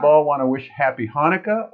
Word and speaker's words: Hanukkah: want to wish happy hanukkah or hanukkah we'll talk about that on my live streaming of what's the difference between the and the ha oh that's interesting yeah because you notice it's spelled ch sometimes and h other times tonight live stream with